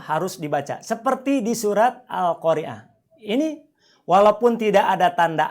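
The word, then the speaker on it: القارعة: Contoh, ini surat Al-Qari'ah ayat 1 bacanya bukan Il-Qari'ah atau Ul-Qari'ah, tapi bacalah Al-Qari'ah.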